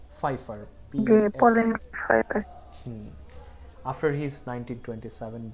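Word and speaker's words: Pfeiffer: Hemingway married Pauline ফাইফার, উচ্চারণগুলো একটু আলাদা তাই না? ফাইফার, Pauline ফাইফার।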